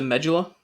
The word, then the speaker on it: medulla: the deepest part is the medula or medulla depending on how you want to pronounce it but the medula is